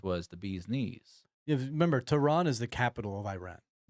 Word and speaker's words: Tehran: Um, but no, so this let's talk about the sightings over tan. Is it tran? It's tran. Tran. That's how you say it. I was screwing up how you pronunciate it.